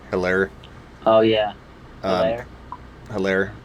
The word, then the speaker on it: Edwards-Helaire: Hilaire or Hilary? Hilaire. Oh yeah, Um, Hilaire. Hilaire. I think it's how you pronounce it, Hilaire.